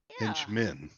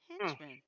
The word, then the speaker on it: Hentchman: TCH is pronounced ch. Yeah. Henchman. Yeah. Yeah. Henchman.